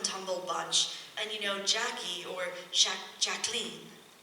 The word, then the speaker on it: Jacqueline: And Jackie, or Jacqueline, she liked to be called Jacqueline. And Ethel Kennedy used to say under her breath, "Rhymes with queen."